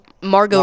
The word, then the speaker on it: Margot: Marg Mar Margaret Marg Margot Robbie Margo that's what that's how you pronounce it but Margo Robbie did